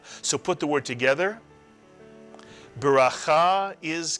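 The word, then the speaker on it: ברכה: That's the chaf with a kamatz followed by a hey, and a hey is silent at the end of a word. Cha. So put the word together. Bracha is correct.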